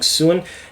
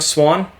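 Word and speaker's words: Siuan: chansa she is playing young soon now sorry young swan again i mispronounce things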